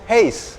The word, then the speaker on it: Huis: lagi ada di sintesis Hei ini banyak yang suka keliru Itu temen jadi ini tuh tulisannya kan khusyuk sebenarnya bacanya itu Hei Nah kita lagi mau